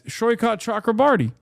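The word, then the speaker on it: Saikat Chakrabarti: You are pronouncing his name correctly. Yeah, I am. It's Shoykat, isn't it? Yeah, it's Shoykat Chakrabarty.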